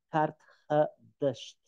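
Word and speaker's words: Qart-ḥadašt: O idioma fenício era um idioma semítico, então a pronúncia aproximada disso devia ser alguma coisa como Karthadasht. Karthadasht significava, na língua fenícia, significava cidade nova.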